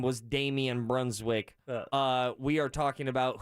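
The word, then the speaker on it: Brunswijk: oh all right damian brunswick i think that's how it's pronounced it's bruns w-i-j-k a lot of jk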